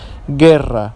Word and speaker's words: guerra: see it okay here we have Guerra okay Guerra not Guerra Guerra the U is silent and here we have